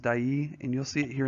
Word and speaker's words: Dyea: the way this is set in a town called dyay I believe it's pronounced die II and you'll see it